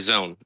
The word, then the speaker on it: XON: that you create a zone uh so the word is xon and it's uh pronounced zone you create a zone